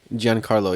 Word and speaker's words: Giancarlo: that's for CEO despacio Esposito but it's uh Giancarlo yeah Gianna Carlo despacito yeah Jackie Chan is